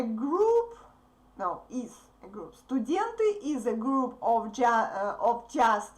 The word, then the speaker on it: студент: So, don't pronounce "e" in the beginning, please. I know that you have similar words but that start with "e" sound. No, here we say "s" first, okay? Not "estudent," but "student."